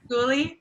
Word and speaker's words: Skoolie: Am I pronouncing that right, Candice? Oh, yeah. Skoolie?